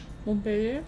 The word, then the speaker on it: Montpellier: Montpellier.